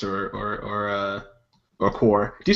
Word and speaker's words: corps: an RC was like no it's core my it's like konel and Colonial whatever the way it's spelled if it's core why is there a p and an s on it how about that speak English I guess they're silent the S is the